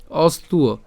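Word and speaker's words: অস্ত্ব: কার মত হবে উ এর মত হবে তাহলে উচ্চারণটা কেমন উ অস্তু ঠিক আছে অস্তু অস্তু কর্মণী তাহলে আমি যদি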